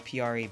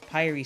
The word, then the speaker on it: Pyri: this is pyri um you could pronounce her name as piari but pyre sounds better to me because pra just sounds weird and she's like this